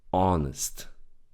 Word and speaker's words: honest: Honest. Honest. The H from the beginning is silent. We don't read it. We just say honest.